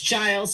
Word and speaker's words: Giles: Giles? Yes, it's Giles, actually, soft G. Giles.